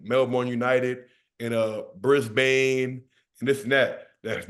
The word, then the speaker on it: Brisbane: one all right is it's Melbourne all right Melbourne like almost like almost like it's it's SP with like an e like a i in almost that's how you say it and Brisbane is like I say it's Brisbane it's not Brisbane so I'm let know